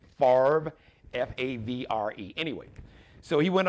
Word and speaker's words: Favre: Boys Brett Favre I used to call him favor they couldn't pronounce his name when he first came into the NFL draft day I said uh drafted by the Atlanta Falcons Brett Favre is actually pronounced farv f-a-v-r-e anyway so he went on to have